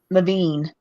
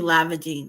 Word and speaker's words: Levine: now it's it's um Levine Levine oh okay yeah Levine but it's French I'd say it's French but it's pronounced Levine it wouldn't be lavaging that's though American would